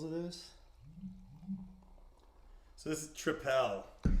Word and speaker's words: Tripel: So this is Tripel. Triple. Yeah. Or Triple. Triple. Yeah, they spell it like that because Belgians spell it like that, but it's just triple.